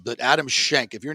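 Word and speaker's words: Schenk: names in golf Adam Shank that like it's it's spelled s-c-h-e-n-k but you know you gotta say shank like who that's like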